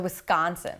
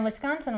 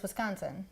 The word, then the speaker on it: Wisconsin: Okay, so first of all, the non-Wisconsin way is to accent the con. So Wisconsin. Wisconsin, like a hard C. Okay. Or And the Wisconsin way is just Wisconsin. The S and the C. Wisconsin. That's better. Okay. You still lengthen the con a little bit.